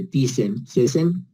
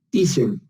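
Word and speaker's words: Thiessen: De Thyssen, pero se pronuncia Thyssen.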